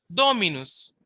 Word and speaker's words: dominus: Now the accent is on the ante penalt if the penalt is short or light. For example dominus. Dominus. So the third last syllable do. Therefore the accent is on the dominus.